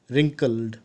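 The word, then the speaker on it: wrinkle: महिला थी और उनके रिंकल डब्लू साइलेंट रहता है इसको रिकॉर्ड पड़ते हैं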